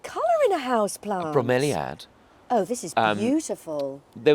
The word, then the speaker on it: bromeliad: A bromeliad.